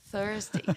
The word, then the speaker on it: Thursday: Thursday, cospe no coleguinha. Thursday.